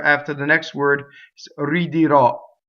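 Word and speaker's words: ridirò: the next word, is ridirɔ. Notice all of those R's are surrounded by vowels. The first R and the second R, surrounded by vowels. Ridirɔ. See, not ridirɔ, not rolled.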